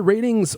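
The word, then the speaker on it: RTINGS: our shopping for a TV yeah that it's pronounced ratings if you had shopped for news TV in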